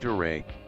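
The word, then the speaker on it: 誰: don't know any japanese dare pronounced duray means who dared sukha means who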